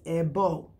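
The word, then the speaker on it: Ebó: let's go into AO some people say ebo because I can relate to you I was you know I'm not really from Yuba I'm not from Nigeria so if our pronunciation is off we totally understand we're all learning so the correct term is EO okay but I'm saying ebo so that you when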